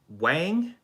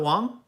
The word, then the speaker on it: Wang: Wang? It's Wang, not Wong? Wang, okay.